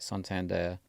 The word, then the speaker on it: Santander: I've always said Santander, but Okay, I think that's how you are meant to pronounce it, Santander.